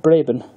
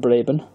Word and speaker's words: Braben: by gaming guru david Braben yes as you mispronounced blabbin not the Apple Bradman v2000 plunges you